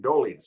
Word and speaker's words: Dolidze: I can't pronounce his name. Dolidze.